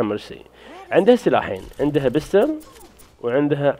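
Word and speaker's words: Mercy: الشخصيه اللي بعدها ميرسي ميرسي اوناس مسميه مكري بس هي النطق الصحيح حقها مرسي عندها سلاحين عندها بستل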